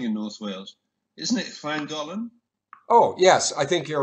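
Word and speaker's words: Llangollen: Isn't it Clangolan?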